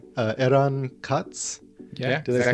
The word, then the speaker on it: Eran Katz: by and correct me if I say your name wrong eron cots yeah did I say close oh perfect I